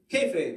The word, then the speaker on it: kayfabe: It's hard to pronounce, right? Kayfabe, that's it.